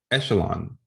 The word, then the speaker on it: echelon: systems of linear equations echelon so it's a french word hence the pronunciation and originally meant a